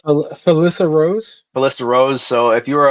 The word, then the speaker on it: Felissa Rose: While we're waiting for the getting situated too, another fun fact: how do you pronounce the actor's name? Um, Which one? Angela. It's Felissa Rose.